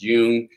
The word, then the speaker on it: Jung: Carl Jung, is pronounced Jung, is actually one of the most written and published authors in all of psychology.